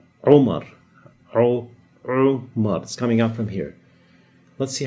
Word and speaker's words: Umar: name is umar now the name umar everybody says omar with like with an o in english the actual way to pronounce it is romar rou let's see how